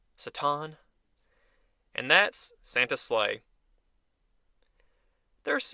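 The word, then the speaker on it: Satan: the ticket being s a t an obviously pronounced saton and that's Santa slle there's even some bloopers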